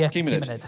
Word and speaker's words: Achaemenid: How's it pronounced? Achaemenid? The Achaemenid.